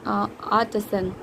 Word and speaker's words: artisan: R is silent and artisan. Okay, Zen is American. Artisan is British.